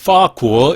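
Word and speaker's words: 法国: 이걸 중국 본토 발음으로 읽으면 파구어 이렇게 됩니다. 법이 파로 발음이 나거든요.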